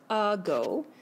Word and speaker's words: ago: end of a syllable but when we read the word we read a go so the a is actually saying ah which means it needs a schwa on top so listen to that